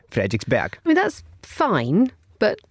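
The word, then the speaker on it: Frederiksberg: So basically one example is this famous Copenhagen station called Frederick'sburg and the day the Danes would of course pronounce the word be as in as in bag but in English you would say Frederick'sburg.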